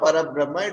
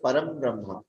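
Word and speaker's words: परम ब्रह्म: It is not Parabrahma, it is Param Brahma.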